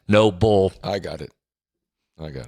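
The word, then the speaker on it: Nobull: shoes the shoes are no Bulls Will Greer our guy yeah endorser of noble how do you spell it bull oh n-o-b-u-l-l yes cool oh no bull not Noble the last part of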